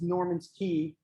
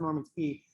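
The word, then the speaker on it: Norman's Cay: little red dot is Norman's Key. It's spelled C-A-Y, which has always confused me, but that's Norman's Key.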